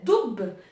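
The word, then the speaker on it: الدب: Et donc là, pareil, on voit bien que le lemme, quand on prononce doub, donc le lemme, il n'est pas prononcé.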